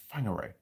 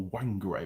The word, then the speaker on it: Whangarei: I think she moved back north again to a place we call Whangarei, or Whangarei. It begins with a W. It's pronounced weird.